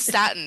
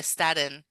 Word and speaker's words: Staten Island: hey um Staten Island that's how you say it if you're from here no one says Statin here they say Staten oh Staten Sten Islands but you got to say it fast though Island I can't